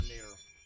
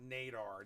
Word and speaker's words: Nader: Nadir, or Nader. Nader. Not Nadar. Nadar would be Nadar. Like radar.